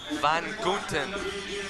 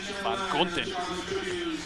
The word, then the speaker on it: Van Gunten: Van Gunten. Van Gunten.